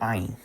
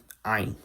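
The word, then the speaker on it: עין: Now, the next letter I'm going to talk about is the Hebrew letter Ayin. Ayin. In chosen Hebrew and in Sephardic Hebrew, Ayin is pronounced like the Ayin that exists in Arabic.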